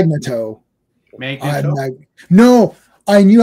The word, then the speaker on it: Magneto: Chris Claremont still says it's Magnetto. Oh yeah, Magneto.